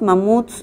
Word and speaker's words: mamut: ella cuando yo era si la veo y digo mamut la última sílaba es tónica eso qué quiere decir que es una palabra aguda bueno que hemos dicho